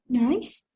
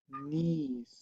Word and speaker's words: niece: Don't forget that we said nice to refer to the adjective. Have a nice day, but we need to pronounce niece when we refer to the word sobrina.